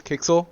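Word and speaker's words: Quixel: into content up here we have something called kixel bridge for those of you guys who don't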